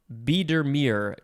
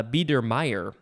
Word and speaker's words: Biedermeier: next we have biedermere biedermere capital b i e d e r m e i e r uh or no actually it's uh b der meyer i don't know why i read that wrong uh this is an